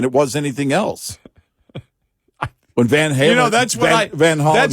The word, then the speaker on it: Van Halen: when Van Holland, which oddly enough, the real pron pronunciation of their last name is Van Holland.